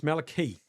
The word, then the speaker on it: Malake: Bridges has taught us it's Mel. Malake. Malik. Malachi. Okay. Maliki. Yeah, it's Malake.